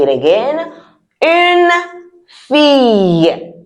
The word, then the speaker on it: fille: Une fille. Did you hear how I said it? Fille. I didn't say fille. Because the L is not pronounced.